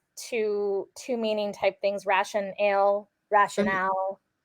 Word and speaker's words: RationAle: people mispronounce it and I've noticed that their logo which was probably strategic has it broken so I'm I'm assuming it's ration ale ration Aleen and I